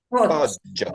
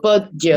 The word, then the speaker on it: Poggio: En este caso, fíjense, GG, GI, G suena G, Y y bueno, por supuesto con las respectivas pausas de las dos G.